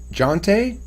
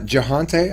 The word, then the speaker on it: Jonte: Jonte? That's how you say it? Yeah, Jante. Oh, it's not Jahante? I've always been saying it Jahante. No, the H is silent.